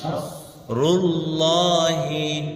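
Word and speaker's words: نَصْرُ اللَّهِ: এইজন্য নাস নাস নাস নাস রুল্লাহি রুল্লাহি নাকি রুল্লাহি রুল্লাহি হ্যাঁ কারণ আল্লাহ শব্দের পূর্বে পেশ আসছে পেশ এজন্য আল্লাহ শব্দটা মোটা হবে নাসরুল্লাহি নাসরুল্লাহি ওয়াল ওয়াল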